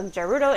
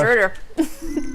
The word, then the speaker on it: Gerudo: Ganondorf Gerudo. We decided his last name was Gerudo. He doesn't have one. I mean, I think that's canonical. Also, I've always said with the hard G.